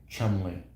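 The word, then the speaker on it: Cholmondeley: what about ch modelli ch pronounced Chumley that's crazy that just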